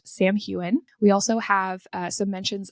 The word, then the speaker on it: Samhain: So that is pronounced Samhain.